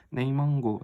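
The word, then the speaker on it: 内蒙古: 네이멍구 이걸 갖다가 내몽고를 중국식으로 발음하면 네이멍구 이렇게 되는 거야.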